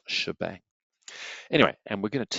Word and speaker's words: shebang: Hash {exclamation mark} for those of you that want to speak young person language is pronounced shebang.